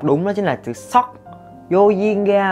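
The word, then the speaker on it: 석: Không có ai tên là Suk hết. Mà cái từ này các bạn nên đọc đúng, đó chính là chữ Sok.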